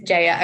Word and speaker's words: Jaya: name right and I apologize if I'm not Jaya um or J is it just J I don't know I apologize if I'm saying it wrong but um it is Jaya okay so it is done based on the